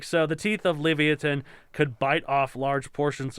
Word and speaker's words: Livyatan: i'm pronouncing levitan right we looked it up and i still don't even know it could be leviathan leviathan i don't know leviton i'm leviathan it's just straight up leviathan i know but they